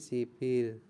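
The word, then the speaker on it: 십일: halnya dengan angka Sino angka Sino sendiri 10 itu adalah ship 10 itu adalah ship sedangkan 1 itu apa 1 itu adalah Il ya menjadi siil seperti itu jadi 11 12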